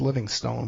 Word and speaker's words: Livingstone: Just look up David Livingstone with an E at the end, but it's pronounced Livingston.